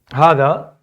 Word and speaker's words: هذا: So هذا it's written like this. It's written like this, right? But it's pronounced differently. There's an alif. Ha. In reality, it sounds like this. Ha, the, right? If you think about it, but it's not written like that. It's the first alif is not written.